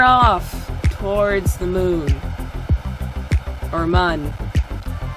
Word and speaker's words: Mun: Or mun. Why have I been pronouncing it moon? I always pronounce it mun, normally.